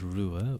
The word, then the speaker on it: Ruadh: My name is Rua Ua.